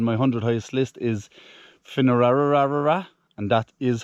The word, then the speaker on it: Finnararagh: Um, today's hike on my 100 highest list is Finerara. And that is how you pronounce it.